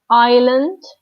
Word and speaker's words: island: D, we have island.